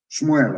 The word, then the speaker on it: Shmuel: dreaming let me tell you what samuel said shmuel of course for the pronunciation as your sword has killed the sons